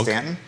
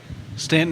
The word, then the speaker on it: Staunton: it's Stanton. Stanton. Dog. I'm gonna go Stanton. Stanton is how most people pronounce it.